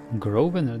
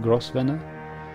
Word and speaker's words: Grosvenor: Grosvenor, that's how it's pronounced, not Grosvenor.